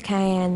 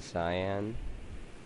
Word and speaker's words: cyan: some pink red green don't use Cayenne that's an ugly color you mean cyan I don't care how